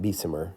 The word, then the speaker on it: Bessemer: The Bessemer process, and sometimes it's pronounced Bessemer, depends who you ask, was a process that was actually discovered by a blacksmith or gunsmith in Scotland.